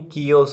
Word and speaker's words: chaos: इसकी pronunciation केओस नहीं, कियोस होती है.